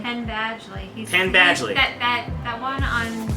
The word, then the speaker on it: Penn Badgley: Penn Badgley.